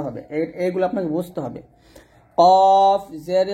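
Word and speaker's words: ك: এটা আমরা অনেকে কফ জবর কাফ বলি, মানে এই দুটা হরফ আমরা একইভাবে উচ্চারণ করি, তো এক উচ্চারণ করার জন্য এটা হবে কফ, এটা হবে কাফ।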